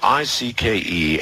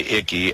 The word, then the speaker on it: Icke: They called me Icke. They called you Icke? Yeah. I mean, you don't pronounce the C.